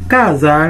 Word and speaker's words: casa: Casa lui-même li prononcer comme ça. J'en vois là Z là dans mi-temps de A. Casa.